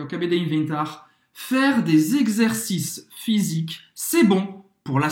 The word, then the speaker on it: exercice: Faire des exercices. Exercice. Então, esse X aí, ele tem o som de gaz. Gaz, tá? Como se fosse GZ. Exercice. E presta atenção que o S não vai se pronunciar.